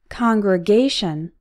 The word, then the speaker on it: congregation: Congregation. This word is an exception. The stressed syllable is A, congregation, but we still pronounce con as in on.